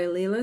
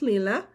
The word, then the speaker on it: Leela: The Summer Quaker by Leela Studio, and it is pronounced Leela. But as I shared a while back, I emailed her and asked her, and she's like, honestly, I don't care.